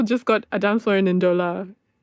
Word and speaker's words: Ndola: And we're also celebrating brand new compilation, A Dancefloor in, is it Ndola? Yes. Yes. It's been really nice to have everyone pronounce it correctly the first time because it's a struggle with my name.